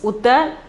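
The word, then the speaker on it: उत्तर: Pronunciation is Uttar.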